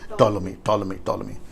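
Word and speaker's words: Ptolemy: दरअसल सेलेकस और टोलोमी, right pronunciation, टोलोमी, सेलेकस और टोलोमी के बीच में यरूशलेम है।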